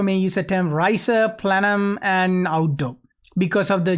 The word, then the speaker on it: plenum: Plenum spaces, I believe this is pronounced plenum, not plenum.